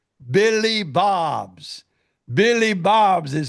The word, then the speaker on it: Billy Bob's: Billy Bob's is how you pronounce it.